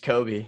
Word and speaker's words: Kobe: There's not an L in there. No, it's not Colby. It's just Kobe.